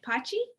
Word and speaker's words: pace: heard you pronounce it pochi oh yeah i um so when i when i came on board uh they mentioned that apache because that's how it's pronounced in italian and it actually that's